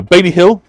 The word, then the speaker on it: Baile Hill: So Baile Hill is the location of the second of the castles here in York.